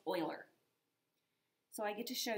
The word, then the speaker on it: Euler: something brand new it's called it looks like euler but his name is pronounced euler so i get to show you euler's method